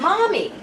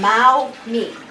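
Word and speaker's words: 猫咪: to say it and she kept going mommy and she got upset with me when i said when i said it like this but it's mao me so every once in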